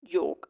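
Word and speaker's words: yolk: एस वाला इस्तेमाल करना इसके बाद है योक और योक अब बोलने में दोनों योक ही आ रहे हैं यहां पे एलम प्रोनाउंस नहीं कर रहे हैं तो डिफरेंस क्या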